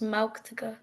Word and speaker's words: Mala: soon okay um and my name is pronounced Mala Mala okay wow I wish